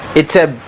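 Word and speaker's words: עצב: Etzeb, ok. Etzeb, ça s'écrit E-T-S-E-B.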